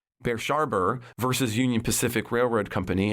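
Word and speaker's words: Brushaber: we get uh uh Bashar oh I mispronounce that bers sharber versus Union Pacific Railroad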